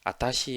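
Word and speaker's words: あたし: " 지금 은 ' 와타시 ' 보다 는 ' 아타시 ' 에 더 가깝다 ."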